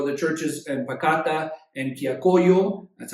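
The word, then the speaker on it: Quillacollo: Obviously pray for the churches in Pacata and Quiacoyo. That's how you pronounce those.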